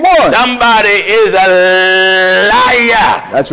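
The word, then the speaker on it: عيسى: a brother named Esau in Arabic Esau is pronounced Isa mhm isau in Arabic the name isau is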